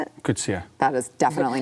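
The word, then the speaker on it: Coetzee: Kutsia. That is definitely not how I pronounced it yesterday.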